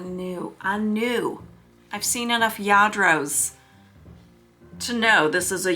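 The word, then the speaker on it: Lladró: Um, and it's spelled L L A D R O. So, but pronounced in Spanish, Yadro. So, yeah, this was quite a find. Quite a find. I have I hadn't found Yadro.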